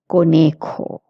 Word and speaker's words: conejo: And in conejo, it's a J, so you have to pronounce it k, conejo.